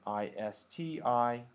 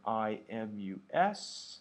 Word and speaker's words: isti: Here's how they're pronounced in English. I know that's an I with a macron over it or a hat, but here's how you pronounce it.